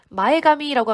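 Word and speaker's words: 前髪: 그러면 스코시 우이타, 살짝 떴던 마에가미라고 하면은 앞머리입니다. 자, 이게 앞전자죠? 그리고 가미. 요거만 있으면 카미라고 읽고 요게 머리라는 뜻인데요. 이제 마에가미 이렇게 붙으면 앞머리가 됩니다.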